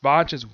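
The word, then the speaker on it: Vangeance: Heck, they poke fun at the ending at the end of this episode by having Yumi keep frequently mispronouncing Vange's name. It's Vange's, William Vange's.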